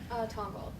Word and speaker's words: Tongal: So we're going to start with Sam, who is from, I want to make sure I pronounce Tongal right? Tongal, yeah.